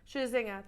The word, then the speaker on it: Scherzinger: Scherzinger, there you go.